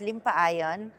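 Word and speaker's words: Limpayen: i m p a ye n but it's pronounced as limpa iion she's the mother of my father who happens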